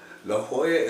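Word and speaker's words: La Jolla: it's La Hoya because double L's are sometimes pronounced as a kind of a h kind of kind of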